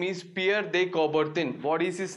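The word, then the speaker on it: Pierre de Coubertin: name his name is pierre de cobarton i will write his name i'll spell it out it's peer they cover thin okay his name is pierre dey coverton you will see the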